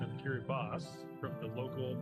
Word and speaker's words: Kiribati: I always thought it was pronounced Kiribati, like the way it was spelled. But then I looked it up one day, the actual correct pronunciation is Kiribati.